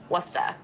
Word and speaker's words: Worcester: It's spelled Worcester. It really ends, it's W-O-O-S-T-A-H, Worcester.